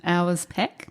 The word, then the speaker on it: Auersperg: it's tricky and it's it's pron pronounced um hours pack.